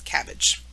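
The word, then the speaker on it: CABG: field you might see abbreviated and pronounced as cabbage this is a surgery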